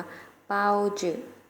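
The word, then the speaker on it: 包子: ใน ภาษา จีน แล้ว จะ เอา เสียง ว่า เปาจื่อ เป้า ชื่อ เอา ชื่อ นัก เรียน ออก เสียง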